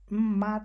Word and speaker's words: mat: এখানে আবার এসে তারা কিন্তু আবার মাত বলছে না, মানে যে এতা বা হান, এখানে যে আমরা যে আর মত উচ্চারণ করতেছি ওইটা হচ্ছে না, এখানে হচ্ছে মত, মানে এর আর কি